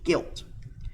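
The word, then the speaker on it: gilt: a young female pig is a guilt g-i-l-t guilt a mature male is a bore a castrated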